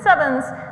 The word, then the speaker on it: CEvNS: and so I'm gonna use sevens where you pronounce it sevens and please spread this meat this process was